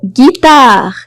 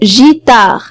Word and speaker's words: guitare: Parfois, on voit GU et on prononce G, comme dans le mot guitare, guitare. Si jamais il n'y a pas U, je vais prononcer le mot gitare et c'est pas correct. Guitare, ça s'écrit avec GU, GU.